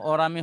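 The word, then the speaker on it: aurum: ঠিক আছে, তবে এর আসল উচ্চারণ আমার মতে অরামই হওয়া উচিত, অরাম।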